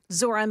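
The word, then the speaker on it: Zohran: Lord, I know that if you just take the H out of the first name, you'll you'll look when you look at it, you'll be able to say it better.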